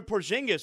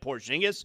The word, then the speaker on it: Porzingis: And that's why Kuminga was sent to Atlanta for a Porzingis with, I mean, Porzingis.